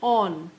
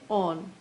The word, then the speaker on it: awn: So AWN, on is ON, on misspelled and mispronounced so that it rhymes with dawn. So basically AWN, on is used by the poet in order to create rhyme with dawn.